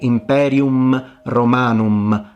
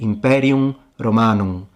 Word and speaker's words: imperium romanum: You don't say imperium romanum. You say imperium romanum. It's ever so slightly pronounced as a nasalized sound. It's not supposed to be an M.